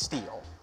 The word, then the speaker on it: Steel: From Steel Hardwood, will the Niners trade a running back since they have, it's pronounced Steel.